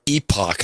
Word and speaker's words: Epoch: this is you know the epic times or epoch is the way i like pronounce it i like saying epoch too yeah i like epic better but yes they go